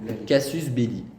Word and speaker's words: casus belli: Casus belli.